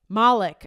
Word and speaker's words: Malek: Let's see how they pronounce it. I'm going to put this sound on. Malek.